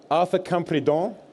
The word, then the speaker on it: Arthur Campredon: Arthur Campredon, did I pronounce that correctly? Perfectly.